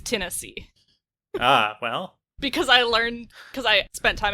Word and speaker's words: Tennessee: I don't have that merger except in the name of the state that's south of Kentucky. Because it's Kentucky, but it's Tennessee.